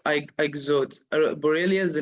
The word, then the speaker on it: Ixodes: Yes, it's ixodes.